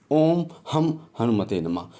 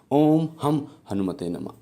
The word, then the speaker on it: ॐ हं हनुमते नमः: ओम दुम दुर्गाय नमः तो जो मैं का उच्चारण है वो एक सही उच्चारण है इस मंत्र का ओम हम हनुमते नमः ओम हम हनुमते नमः इस मंत्र का और